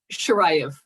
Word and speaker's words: Shiraev: that we're going to find out about Shiraev. And I think I fucked that up. Is it Shiraev? You actually got it pretty right. What is the exact pronunciation? Shiraev.